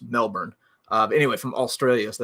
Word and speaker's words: Melbourne: melbourne okay so i used to say that melbourne uh and then i um ran into i